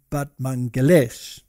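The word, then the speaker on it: Batmanghelidj: over here batman but apparently you pronounce it but mangalesh now he was an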